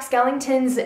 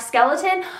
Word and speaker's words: Skellington: Act I Know Jack Skellington's name I guess I didn't pronounce inton very well because he kept they kept thinking I was saying Jack Skeleton I know it's Skellington I'm I like I